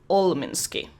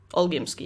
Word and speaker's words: Olgimsky: The only person who believes you is Vlad Olminsky. Olgimsky, yeah. That's how you say it.